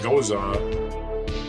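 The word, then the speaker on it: Gose: I don't know OA is actually pronounced goza uh is a fermented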